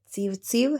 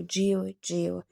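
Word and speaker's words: civciv: Eh, slovíčko neprečítame civ civ, hej, ako by sme ho prečítali na Slovensku, ale prečítame ho dív, čiže cčko čítame ako dživ, čiže kuriatko.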